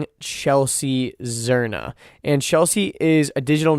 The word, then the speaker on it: Zirna: Am I saying it correctly? Zirna? You are.